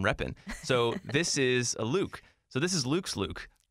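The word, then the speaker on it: Lewk: and i closed by that new word is my name not spelled the same way luke l-e-w-k i had no idea what this word was all i knew is that was pronounced like my name luke so what it is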